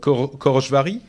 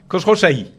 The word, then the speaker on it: Khosrowshahi: sent une intention de comment il s'appelle, Dara Khorojvahi, pardon. Pas facile. Non, mais si, j'ai mal prononcé. C'est terrible quand je prononce mal. Khosrowshahi.